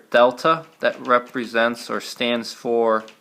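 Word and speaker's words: Δ: we don't pronounce it triangle that triangle is the Greek letter Delta that represents or stands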